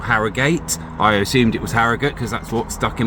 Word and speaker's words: Harrogate: So, you know, I kind of thought maybe it's Harriate, but no, it's Haragut. Just plain old Haragut.